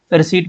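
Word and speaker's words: receipt: The silent letter in the word रिसीप्ट इज ये रिसीप्ट है लेकिन इसको रिसीट पढ़ते हैं। इसमें पी को पढ़ा नहीं जाता। ओके? रिसीट पढ़ते हैं इसको। तो इसमें साइलेंट पी है। ओके? पी साइलेंट होता है।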